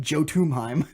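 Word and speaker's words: Jötunheim: one Odin is one yo dime is spelled very different than I thought it was with a J it's like Joe to mime yeah Odin like Yoda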